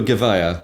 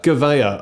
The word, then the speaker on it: Gavia: Well, we were Gavea. Gavea, okay. But we were the only people that pronounced it Gavea. Probably because I was doing the recruitment for you in the early days and telling everyone it was Gavia as well.